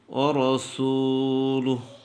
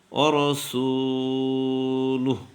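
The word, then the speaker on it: رسوله: মুহাম্মাদান আবদুহু আবদুহু রাসুলু রাসুলু এটা ভুল শব্দ সঠিক হচ্ছে রবে রা হবে না রাসুলুহ তাহলে কালিমাতুশ শাহাদাত আশহাদু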